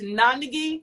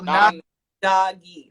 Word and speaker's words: Nandagi: Oh, so it's Nandagi, so it's like non-bread. So Nandagi, like a karate uniform.